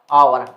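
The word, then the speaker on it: hour: चलो ए लगा देते हैं, जो कि आपका गलत हो जाएगा, क्योंकि इसको उच्चारण करेंगे तो इस प्रकार से होता है आवर।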